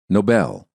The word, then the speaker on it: Nobel: the following words are great examples of why syllable stress is such an important component of the american accent listen and repeat noble nobel he won the nobel prize for his noble